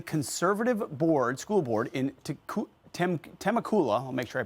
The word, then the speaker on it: Temecula: newly sworn in conservative board School Board in temakula I'll make sure I pronounce that right Valley Temecula thank you Rachel California saying it will quote